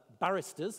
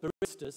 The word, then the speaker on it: barista: to one of the barristers uh no sorry Baristas I always pronounce that wrong one of the Baristas